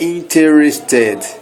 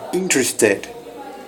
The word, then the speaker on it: interested: Então não é interested, é interested, né? A gente pula como se fosse só 3 sílabas. Interested, como se não existisse esse E entre o T e o R, tá?